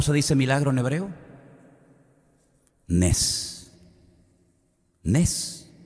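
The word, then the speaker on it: נס: Nes.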